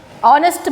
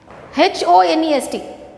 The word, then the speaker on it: honest: But how is it pronounced? H sound does not be, it is not pronounced. H is silent. H is silent. We only pronounce O-N-E-S-T. Honest. Got it? Honest. H is not pronounced. It is not honest. It is honest.